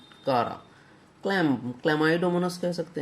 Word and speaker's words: Chara: इसको बहुत लोग चारा कहते हैं, लेकिन एग्जैक्ट उच्चारण है इसका कारा।